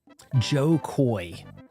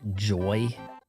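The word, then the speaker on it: Jo Koy: Joe Koy, that's who it is. Joe Koy, he would be on Adam Corolla's show and Adam Corolla would call him Joy because he mispronounces all kinds of Joe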